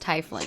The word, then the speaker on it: tiefling: name is cat look Scott still thinks tiefling is pronounced tie fling himself is dangling it is tie fling if it was T playing it would be te a fling you saw me tweet